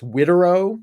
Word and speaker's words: Widerøe: It was actually, funny enough, sold by a small Norwegian airline based out of, I believe it's pronounced Tromsø. The airline is, I'm going to butcher this, Widerøe, Wideroe.